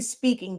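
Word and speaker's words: Spinking: i n g honestly speaking just like our product line it's pronounced speaking but it's spelled speaking or was like with the ink in the middle um and silaholics synonymous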